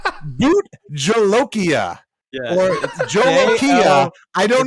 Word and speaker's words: Jolokia: I believe I don't know how it's pronounced, but what I do know, it's not Jolika. It's not Jolika. It's Jolokia, Jolokia.